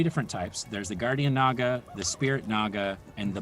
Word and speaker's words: naga: is the naga oh some people might call it a nega yep i call it a naga cause i'm pretty sure that's how you pronounce it and that might even